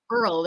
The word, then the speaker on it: world: here um uh 2023 how do you say world world it's definitely from the back of your throat world world that's a